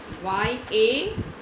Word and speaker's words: Yavanika: Y-A-V-A-N-I-K-A. How will you pronounce it?